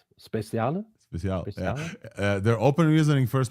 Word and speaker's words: Speciale: I think it's Italian. Speciale.